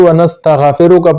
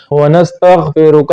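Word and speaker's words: ونستغفرك: اللہم انا نستعینک ونستغفرک، تو بعض لوگ اس کو ونستغفرک پڑھتے ہیں، غین پر فتحہ یعنی زبر پڑھتے ہیں، اس طرح غلط ہے، ونستغفرک غلط ہے، ونستغفرک یہ غین جو ہے یہ ساکن ہے، ونستغفرک ونؤمن بک ونتوکل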